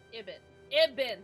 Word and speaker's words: Ibn: Ibn, thank you. Rhymes with Gibbon. Damn. Fucking hell. I'm never gonna get it in my brain. I'm trying so hard. It's not a good sign. Ibn rhymes with Gibbon.